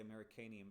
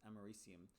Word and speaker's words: americium: i like to say americanium knowing that it's not pronounced that way it's actually pronounced americium americium is uh what